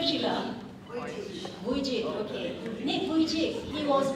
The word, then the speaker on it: Vujicic: How do you pronounce his name, Sheila? Vujicic, okay.